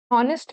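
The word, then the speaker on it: honest: एन ऑनेस्ट मैन ऑनेस्ट मैन में again H का sound नहीं आता है।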